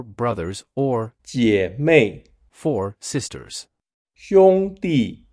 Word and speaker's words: 兄弟: 兄弟 sounds like Sean digs, and 姐妹 sounds like Jack's mail.